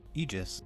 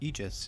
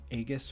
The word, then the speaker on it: Aegis: a lot of damage this card is apparently pronounced Aegis at least that's what Google tells me I've always been saying Aegis or Aegis but you just I